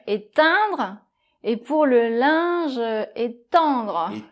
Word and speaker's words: étendre: Donc le premier, éteindre - Éteindre ! - Et le deuxième, étendre. - Étendre ! - Voilà ! Donc c'est la nasale qui change, donc je sais c'est